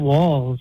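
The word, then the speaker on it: Walz: she picked tampon Tim Walls as her as her running mate uh it's ironic his last name rhymes with balls it sounds like he's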